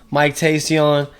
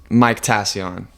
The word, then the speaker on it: Mictacion: conversation you'll definitely be seeing him again soon Mike Tason episode 19 of the Weekend Warriors let me set the record straight it's technically pronounced Mike taion okay it's a stupid ass name so I